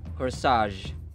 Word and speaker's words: corsage: This is pronounced as corsage. Corsage.